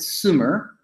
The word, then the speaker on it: Sumer: from the south and because he was a French guy you know he pronounced it Sumer and he was known